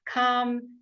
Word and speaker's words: calm: Calm, the L was left out. Right. That's also a silent letter.